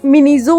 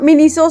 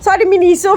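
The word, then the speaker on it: Miniso: आज मैं मिनीज़ो में गई थी तो वहाँ मिनीसो, सॉरी थोड़ा प्रोनाउंसिएशन में गलत हो रहा है, याद नहीं आ रहा, मिनीसो में मैं गई थी।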